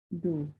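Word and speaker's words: ∂: Nah, ini bacanya bukan D, tapi do. Dibaca do. Kalau ini dibaca D.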